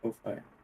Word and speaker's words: Ko-fi: By the way, it's pronounced Ko-Fi.